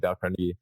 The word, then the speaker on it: Dale Carnegie: Dale Carnegie actually is how you say it, Dale Carnegie, How to Win Friends and Influence People.